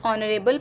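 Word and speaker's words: honourable: Next one इज़ our principal is dash ऑनरेबल person. इस case में भी H silent है, और तो साउंड किसका सुनाई देगा हमें? ऑनरेबल, ओ, और ओ हमारा स्वर है, दैट मीन्स वॉवल साउंड।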